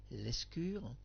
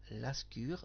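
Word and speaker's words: Lescure: Pierre l'escure. Moi je prononce Pierre l'ascure dans l'émission. Oui, des fois vous avez pu constater que je change un tout petit peu le le nom des personnes.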